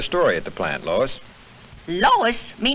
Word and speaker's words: Lois: might be a story at the plant Lois Lois my name is Lois not Lois Chief whiz everybody in toy believes me name wrong it's Louis l o u i s Lois or uh Louise Lucy now I'm so mixed up I don't